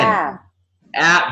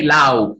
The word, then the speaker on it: laugh: Don't say loud, loud. Mm-mm. The pronunciation is Laugh. laugh with a long ah.